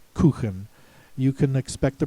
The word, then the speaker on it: Kuchen: I think these two words have been Americanized so that you can expect the pronouncer to say Kuchen instead of Kuchen.